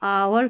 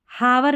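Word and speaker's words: hour: H silent रहता है कुछ स्पेलिंग्स में, जैसे देखिए इसको आवर करके पढ़ेंगे, ऑनेस्ट करके पढ़ेंगे, हॉनेस्ट या आवर नहीं पढ़ रहे हैं, इसको हावर नहीं पढ़ रहे, आवर तो पढ़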